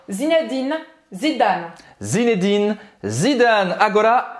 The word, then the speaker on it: Zinedine Zidane: É simplesmente para você terminar de pronunciar o N, porque imagina se você fosse pronunciar o N assim, Zinedine. Aí eu não terminei a pronúncia do N, né? Então tem que soltar a língua no final.